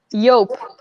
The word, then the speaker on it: Yope: So, the company, I pronounce it Yoop. Yeah. How would you pronounce that? Yope. Yope. So Yope. Yeah. it's either Dupe, Yoop, or Yelp, and that you pronounce it Yelp. Yeah, we pronounce it Yope.